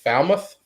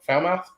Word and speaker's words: Falmouth: how to pronounce it Falmouth Falmouth fou mouth like Felicia foul mouth um Falmouth but anyway